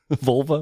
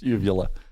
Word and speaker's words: uvula: Vulva? What is it? No, it's uvula.